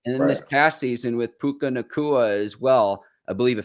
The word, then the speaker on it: Puka Nacua: Did I say it right? I think you're getting Puka Nacua and Luka Doncic mixed up, Mike. But yes. Puka Nacua. I'm sorry. Nobody thought Puka Nacua.